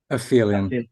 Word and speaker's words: aphelion: So when we get to track number 2, correct me on the pronunciation. Is it Aphelion or Aphelion? Aphelion.